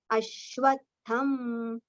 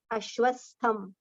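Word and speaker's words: अश्वत्थम्: Ashwatham. Now, most of the times it is recited as Ashwastham. Sa is not there. It is Ashwatha Vriksha.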